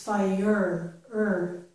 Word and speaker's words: fire: the E are reverse it's not fire it's fire fire the same down here with wire it's as if that R and E are reversed wire okay right fire